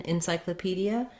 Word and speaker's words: encyclopedia: So even though we have the letter E in encyclopedia, it's going to be a reduced I vowel and sound just like the word in.